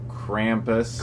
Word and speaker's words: Krampus: apparently some of reason when I see an a I think Santa and then I think it should be an a sound not a u Krampus Krampus kumus anyway we just saw